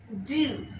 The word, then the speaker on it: du: D-U, do, before masculine nouns starting with consonant.